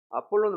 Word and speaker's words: 아폴론: 아볼로라고 그 이름을 줬는데 원래 발음은 아폴론입니다. 아폴론을 많이 들어봤죠.